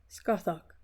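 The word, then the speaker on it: Scáthach: The wooing of Emer also pronounced Evore and Kuhalland's training in arms with Scaha also pronounced Scarthok translation by Kuno Mayor.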